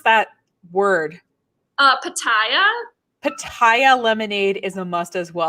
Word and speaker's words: pitaya: Wait, how do you pronounce that word? Pitaya.